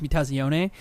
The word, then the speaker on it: Mutazione: that not only says the right way to pres pronounce the the game which is meaze but it describes the